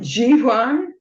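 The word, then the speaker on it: jivhā: The next one is um Xiwan. That's a really interesting pronunciation because the V's are pronounced like a um a V a cross between a V and a W and that's tongue and daz is taste.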